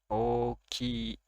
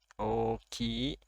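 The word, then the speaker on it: おおきい: Lalu ada oki, i, oki, oki artinya besar. Jadi ini o-nya dibaca panjang, sama ki-nya juga panjang karena ada i. Oki artinya besar.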